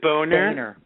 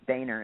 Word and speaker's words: Boehner: How do you pronounce his name? Is it Boehner? Boehner, isn't it?